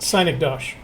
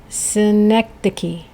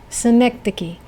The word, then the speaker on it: synecdoche: Synecdoche. Nope. Synecdoche? Nope. What? It rhymes with Schenectady. It's Synecdoche. Synecdoche.